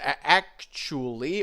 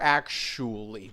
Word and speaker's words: actually: Yes, actually or actually. Both are fine. But you said actually. So, actually or actually. Both ch and sh are okay.